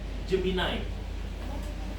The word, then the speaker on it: Gemini: Gemini atau apa sih? Ini bacanya adalah Gemini.